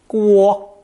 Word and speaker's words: 锅: It's pronounced first tone, guo, guo, and means a cooking pot, pan, or a cauldron.